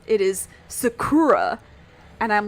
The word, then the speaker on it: Sakura: so instead of like Sakura it is Sakura and I'm like there are literally words in English and names in English that have the first syllable stress Oliver right and then